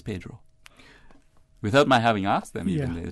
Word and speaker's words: Pedro: might have heard say Pedro Castle pronouncing Pedro in the authentic Spanish way are traditional Caymanians of